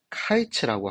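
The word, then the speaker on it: קיץ: 표현이 있습니다 자 여름은 과일이라는이 히브리어는 카이츠라고 합니다 카이츠 그런데 그 카이치를 끝이라고 하는 캐치의 발음과 비슷해요 그러니까 언어 유의를 한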